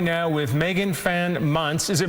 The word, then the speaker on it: Muntz: Well, let's talk right now with Megan Fan Muntz. Is it Muntz or Muncie? It's Muntz. You pronounced it perfectly.